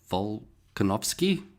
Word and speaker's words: Volkanovski: Um Alex Vol- Volkanovski.